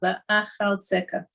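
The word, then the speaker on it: ואחלצך: But if you can say it properly, l'chaschila, so that's how you say the word, va'achaltzeka. So you called out to me when you were suffering, and I saved you. Achaltzeka.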